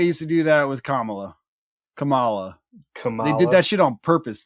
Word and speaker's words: Kamala: It's Kamala. Kamala. know if you guys are right. I'm right. I know that one. It's Kamala. It's Kamala.